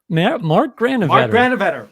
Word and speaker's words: Granovetter: I don't know if I pronounced his name. Granovetter. Mark Granovetter. Sure. Mark Granovetter.